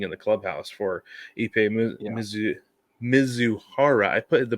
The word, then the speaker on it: Mizuhara: HR was waiting in the clubhouse for Ippei Mizuhara. I put the pronunciation there for myself, Brig.